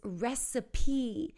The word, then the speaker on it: recipe: for a receipt and the next one is recipe so weird right because that E is at